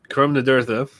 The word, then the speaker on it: Curam Nadurtha: So it's a combo from Curam Nadurtha.